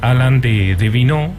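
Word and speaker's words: Alain de Benoist: el personaje clave es Alan de vin se escribe de benoit la pueden buscar ahí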